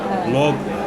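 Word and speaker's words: Beyoğlu: Beyoglu. Beyoglu. You don't pronounce the G though.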